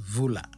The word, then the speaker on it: Hula: clan subclan oala roger grew up in hula locally pronounced vula in the 1970s and